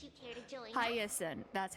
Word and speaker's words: Hyacinth: Hyacinth, that's how you say it.